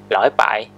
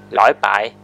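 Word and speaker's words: 禮拜: thing is Week And in Teochew, week is pronounced 'loi6 bai3' And from Monday to Saturday we count from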